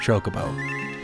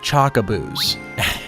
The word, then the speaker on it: Chocobo: it chocoo and I I remain firm that it's pronounced Chocobo he called them chaboo and I'm like that cannot be how you pronounce that word they cannot be called